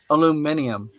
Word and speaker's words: aluminium: very cool uh so over in Europe they pronounce aluminum aluminium oh they just pronounce the vowels different okay all right Brenda I'm